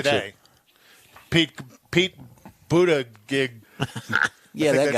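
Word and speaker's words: Buttigieg: concern joe biden's going to say today pete buddha gig yeah that's how you say it he said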